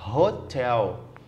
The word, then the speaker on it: hotel: questão a letra C você fala Hotel Hotel fala com R Então você usa o